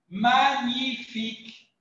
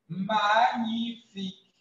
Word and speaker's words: magnifique: y a ce mot lorsque vous rencontrez le G et le N vous devez obligatoirement prononcer la doncnifico le que mais ici c'est la donc vous devez lire voilà la vraie prononciation magnifique magnifique mais évidemment c'est simplement